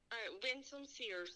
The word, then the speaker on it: Winsome Sears: How do you pronounce her name? Winsome Sears.